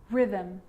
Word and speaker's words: rhythm: And with an R, rhythm, or rhyme.